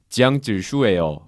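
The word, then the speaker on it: 江直树: 일단 장지수는 중국어로 발음을 하면은 지양질수예요.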